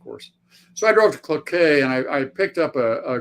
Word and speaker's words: Cloquet: get okay well uh I I drove to Cloquet where where Cloquet Minnesota how do you spell that c-l-o-q-u-e-t it's like well yeah it's French